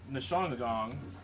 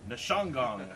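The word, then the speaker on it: Ndzishangong: Dalbert Nishongagong, that's the way we're going to pronounce this name.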